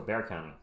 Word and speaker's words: Bexar: And San Antonio's in Bexar County, but it's pronounced Bear, so Bear County.